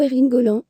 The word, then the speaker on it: Erling: les pzig le cyboreringham ou plutôt erinolin comme ça se prononce en norvégien et comme le placard